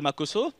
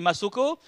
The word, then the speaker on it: Makoso: nom mais je m'appelle makoso et comme à l'école mes amis avaient souvent du mal à bien prononcer mon nom c'est-à-dire au lieu de dire makoso certains m'appelai masoco ah il y a